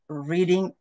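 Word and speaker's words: read: বলতে পারতো ইন my leisure time কিন অন রিডিং book রিডিং helps রিলাক্স and expanding knowledge same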